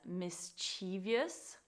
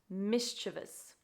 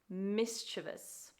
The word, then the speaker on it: mischievous: end of these three words this word commonly mispronounced as mischievous mischievous when it should be pronounced mischievous mischievous your turn okay next up is an Italian